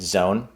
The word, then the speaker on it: Xon: project there's new terms the zone xon is how you pronounce it zone is kind of the